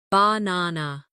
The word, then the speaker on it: banana: For example, in the word banana, the stress is on the second syllable, banana.